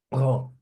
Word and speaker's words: prends: Je prends. Je prends. Eu pego, eu tomo, eu bebo. Ok? Je prends. Je prends. Não pronuncia o final, ok?